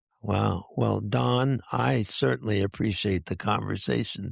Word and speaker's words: Daune: Well, Don, I certainly appreciate the conversation today.